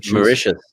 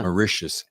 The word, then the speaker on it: Mauritius: I would love to grab Tammy and come down to, how do you say it? Mauritius. Yeah. Mauritius. It's delicious. That's what I need to remember. It is. It's like delicious. Mauritius is delicious.